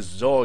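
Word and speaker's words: XOR: because of its name it's probably not how most people pronounce it but hey ho I do what I want to do so yeah this is called the zor gate now don't that just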